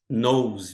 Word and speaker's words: nose: Nosse. Veja que a gente não pronuncia o e aqui, né?